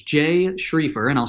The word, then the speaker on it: Schriefer: financial calm which a correct it's Jay schrieffer and I'll spell that for everybody so just the letter j